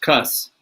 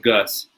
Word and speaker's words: Cus: I think his name was Constantine, which C-U-S, Cuss is what they, instead of Gus.